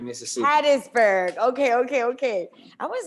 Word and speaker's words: Hattiesburg: but it's specifically haiti how you say it hattiesburg mississippi hattiesburg okay okay okay i was like wait a